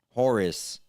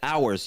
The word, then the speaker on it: Horus: Horus. You know, people don't even know the names like ours.